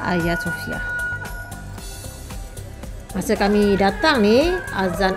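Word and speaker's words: Hagia Sophia: Destinasi seterusnya adalah Ayah Sofia. Walaupun ejaan dia H A G I A tapi sebutan dia adalah Ayah Sofia.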